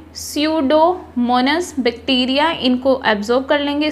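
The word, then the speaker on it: Pseudomonas: Rest of the nitrate, जबकि जो बाकी नाइट्रेट है इन द सॉइल, सॉइल में are converted bye, P silent रखना है, स्यूडोमोनस बैक्टीरिया, इनको एब्जॉर्ब कर लेंगे, सोख लेंगे इनटू नाइट्रोजन गैस और इन्हें बदल देंगे नाइट्रोजन गैस में।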